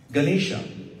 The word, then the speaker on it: Ganesha: on the Ganesha principle Ganesha two syllables Ghana and Isha Ghana means All Creations